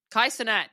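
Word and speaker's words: Kai Cenat: Kai uh Kai Sinat Kaiat.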